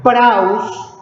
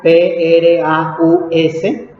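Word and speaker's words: πραΰς: Vamos a ver, del griego mansedumbre, praus, así como se escucha, P-R-A-U-S, praus, con acento en la U, significa apacible, pacífico, humilde, dócil, suave, sometido, blando, bondadoso, paciente, sumiso y maleable.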